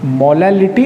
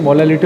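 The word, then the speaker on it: molality: Students, थोड़ा सा एक कंफ्यूजन यहाँ पे स्टूडेंट्स को बना रहता है, एक हमारे प्रोनाउंसिएशन की मिस्टेक और छोटी सी, मोलालिटी एंड मोलारिटी। मोलालिटी और मोलारिटी, ये 2 जो चीज़ें हैं, इनको आप खास कंसंट्रेशन करना, ये काफ़ी इंपॉर्टेंट है।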